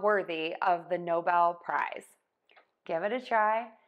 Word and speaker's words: Nobel: for many other things we are going to switch the stress to syllable two Nobel Nobel no Bell so we have Noble